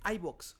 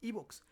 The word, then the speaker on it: iVoox: ¿Por qué la gente dice iVox? No lo entiendo, es una plataforma española, es Evox. De hecho, si tú escuchas la publicidad del mismo Evox, Evox se pronuncia a sí mismo como Evox, nunca como iVox, pero bueno, ya, saliendo de ese paréntesis.